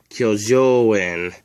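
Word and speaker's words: 鋸状縁: To spell it, you need this symbol. And it's pronounced kyo. The second symbol is jo, and it's spelled like this. Jo. And the third symbol is this. It's pronounced N. Kyojoin, ora serrata.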